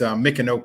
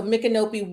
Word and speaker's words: Micanopy: to the name correctly sure sure so it's a Mickey nope it will be Florida so micanopy wineries a fifth generation uh farmer black farmer